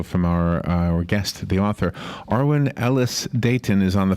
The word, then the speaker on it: Arwen: Good morning, Arwen. Hi, guys. And yes, you're pronouncing my name correctly.